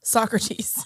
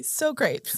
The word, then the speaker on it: Socrates: The second is from Socrates, aka Socrates. Socrates. For people that haven't seen, what is it, Bill and Ted's Excellent Adventure? Apparently that's how they pronounce it.